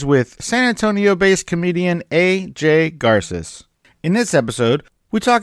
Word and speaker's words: Garces: It is pronounced A, it is pronounced J, and it is Garces.